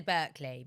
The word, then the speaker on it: Berkeley: Was it Berkeley or Barclay? I always say the Berkeley, but Barclay. however you want to pronounce it.